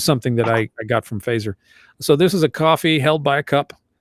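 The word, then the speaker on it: Feser: goes to Ed fazer I think it's fazer is how you say his last name yeah yeah fazer this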